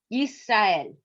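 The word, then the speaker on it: ישראל: Yes, Yisrael. Yes. So notice we have a closed syllable, yis. Yes. That's a consonant plus a vowel plus a consonant and no vowel.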